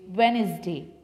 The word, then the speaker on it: Wednesday: Then after, this is Wednesday, not Wednesday. It's wrong. You will spell it Wednesday. W-E-D-N-E-S-D-A-Y. A-Y, Wednesday. Repeat, Wednesday.